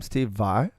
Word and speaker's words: Steve Vai: Steve Vai?